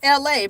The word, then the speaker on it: Elay: My name is LA, pronounced like LA, like the city.